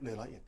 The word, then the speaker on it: Le Roi Et: I hesitate to read this word, "Ler Roy Ed" on "Le Roi Et".